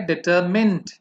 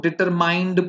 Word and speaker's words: determined: डिटर्मिनेशन का adjective होता है डिटरमिन्ड, तो उसको भी लोग डिटरमाइंड पढ़ते हैं, बोलते हैं डिटरमाइंड, बट इट्स नॉट डिटरमाइंड, इट्स डिटरमिन्ड.